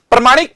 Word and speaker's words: प्रामाणिक: प्रमाणिक पुस्तक चाहिए, प्रमाणिक, प्रमाणिक होता ही नहीं है, प्रामाणिक होता है, प्रामाणिक।